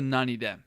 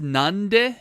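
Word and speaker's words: 何で: If it's pronounced nande, it means why do you do whatever verb we're talking about.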